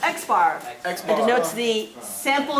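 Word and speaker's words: x̄: everyday values in a population again good it's pronounced x-bar that's better notes the sample mean x-bar sample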